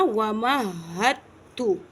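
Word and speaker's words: وَمَهَّدتُّ: वाज़े हो जाएगा ना, वमहत्तु, वमहत्तु। ठीक है, समझ में आ रही है। ये दाल यहाँ पे साइलेंट है, सिर्फ टच हो जाएगा लेकिन वाज़े नहीं होगा, ता वाज़े हो जाएगा, जिसके वमहत्तु।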